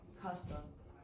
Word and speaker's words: castle: The castle. Again? Castle. How do you pronounce that, everyone? Castle. Do not pronounce the T, and the pronunciation of words in English is like this.